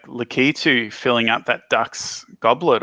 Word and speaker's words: Lakitu: you say it because i've said lack it to my whole life i feel i feel lost oh i don't know let's uh i'm gonna have to look up the pronunciation of that now lack it too doesn't matter though according to gaming dot stack exchange it's lakitu lucky too i do like